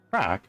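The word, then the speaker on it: craic: Crack, pronounced crack, is an Irish term for fun, entertainment, lively conversation, and good-natured banter.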